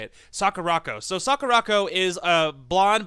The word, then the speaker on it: Sakurako: I swear to God I can say it Sakurako so Sakurako is a blonde but not not